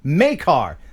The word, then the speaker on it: McCarr: Oh, pronounced Makar.